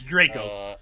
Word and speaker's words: Draco: It's Draco. If that had an E on the end, the A would be... Draco.